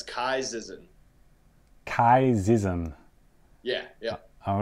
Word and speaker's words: Ky Zizan: that I have first is how do you pronounce the your name oh it's Kai zzen Kai zzen yeah yeah all right that is